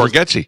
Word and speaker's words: Bargatze: It's strange, though, because didn't Nate Bargatze say that people were saying his name wrong? And then it's Bargatze.